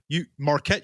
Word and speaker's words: Marquette: chemistry student at and i believe this is pronounced marquette yeah marquette university in milwaukee working on his phd and